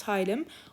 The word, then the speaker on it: hilum: and a concave depression the hilum absorptilum it's pronounced hylum where an efferent lymphatic leaves and where an